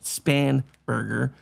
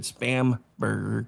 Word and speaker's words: Spanberger: her being I know her name is actually pronounced Spanberger. I pronounced it spamburger because you know she was fake to begin with.